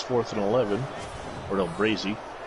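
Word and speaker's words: Braase: Ordell Braze, it's 4th and 11. Ordell Brazy.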